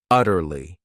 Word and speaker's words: utterly: Then we have another great adverb utterly. This word has three syllables and the stress is on that first syllable.